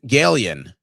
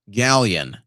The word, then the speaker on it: Galen: Galen, pronounced Galleon. Galleon? Galleon. Became Galleon after 1776 war.